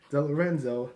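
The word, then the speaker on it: DeLorenzo: and his other friend Kelly, played by Dana Del Lorenzo, that's how you pronounce her name.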